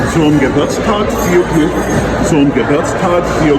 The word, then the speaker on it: Geburtstag: Zum Geburtstag viel Glück.